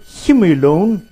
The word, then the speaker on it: humulone: me sunlight here so with the word humor alone that I try to pronounce it right it's not home alone leave him alone from what I said